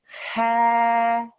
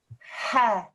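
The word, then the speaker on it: ح: Ha. Ha. Okay, put your fingers on the middle of your throat. Ha. Ha. Well done, okay? Like as if you're about to say hat.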